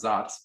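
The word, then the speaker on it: Saaz: the czech republic s-a-a-z it's actually pronounced zots but nobody knows that but us uh that hop was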